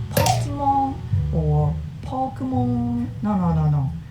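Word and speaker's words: Pokémon: However, non-Japanese people pronounce it something like Pokemon or Pokemon.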